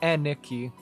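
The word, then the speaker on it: 兄貴: It's not Aniki. It's not Aniki like Anakin. Knee. It's like the NI sound is knee.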